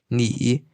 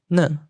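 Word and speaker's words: 你: Par exemple, du en mandarin, ni est prononcé comme ne à Shandong et à Henan, qui sont aussi des départements dans la zone du dialecte mandarin. Aussi, même se situant côté à côté, les habitants de Suzhou prononcent ne et ceux de Shanghai prononcent non.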